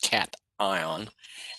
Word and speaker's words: cation: ion becomes positive and we call that a cat ion cat ion and I when I was in your position I mispronounced it I call it a but it's pronounced cat ion an anion okay and an example of an